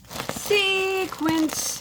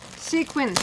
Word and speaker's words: sequin: so pretty it's sequency sequin I say it wrong sequin sequin it's sequin I'm so excited what